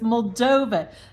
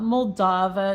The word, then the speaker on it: Moldova: saying wrong all along so it's mova not mava not mavia it's mova and I may still